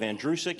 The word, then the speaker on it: Andrusic: The last name is pronounced like the boy's name Andrew, who is sick. You run it together, you have Andrusic. It's that simple.